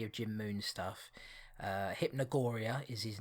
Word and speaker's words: hypnogoria: checked out any of Jim Moon's stuff uh hypnogoria is his name on Twitter I think it's spelled uh h y p n o g o r i a hypnogoria check him out uh Check It Out